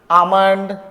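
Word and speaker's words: almond: यहाँ L silent है। ठीक है, क्या हो जाएगा? ये आमंड, कॉम, पॉम, बॉम और ये सैमन। क्या हो जाएगा? ये सैमन हो जाएगा।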